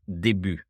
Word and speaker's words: début: I find it interesting that the English language is using a French word like this with a different pronunciation, but the real pronunciation is début.